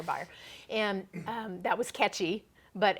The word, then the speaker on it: Beier: good fortune of having my last name rhyme with Beier, too. So that was the slogan, it was Fire Beier.